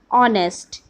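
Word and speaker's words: honest: Students, here are some words जो कि start consonant से होते हैं बट उसका जो प्रोनाउंसिएशन होता है वो वॉवेल होता है. लाइक एन और ऑनेस्ट.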